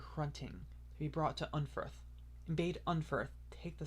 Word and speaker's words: Unferth: Oh, apparently it's originally supposed to be pronounced Unferth with a F instead of just regular TH. I mean, F is kind of like a mix of D and TH, like Unferth.